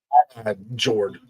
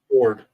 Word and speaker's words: fjord: Jord. But you do. It's just pronounced weird. It's Fjord. The J is Pronounced the J. It's Ford. I mispronounced it.